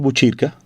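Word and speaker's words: Botkyrka: Este nombre de Buchirca, si se escribe en sueco, se escribe con una K y una Y. O sea, usted diría radiobotkirka.se y Radio Buchirca como se leería, o Radio Buchirca como se leería, si lo leyéramos en sueco, .com.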